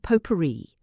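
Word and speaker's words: potpourri: The jar of poperri. Cousin Stickles pronounced it as spelled has disappeared from her room.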